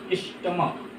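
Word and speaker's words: stomach: स्टमक। यहाँ CH को क पढ़ा जा रहा है, स्टमक में स्पेट होता है।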